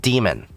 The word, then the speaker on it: daemon: think Don, but it's really supposed to be pronounced demon, like Eon.